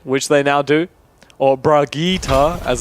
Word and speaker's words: Brigitte: They're probably going to have Fogbodge on the Bridget, which they now do. Or Brigitte, as it's correctly pronounced.